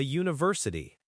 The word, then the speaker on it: university: Similarly, a university. University starts with a U sound, which is a consonant sound, not a vowel sound, even though it's spelled with a U, so it's a university.